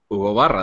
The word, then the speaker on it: Hugo Barra: Guy was giving Hugo Barra. That's the way it's pronounced.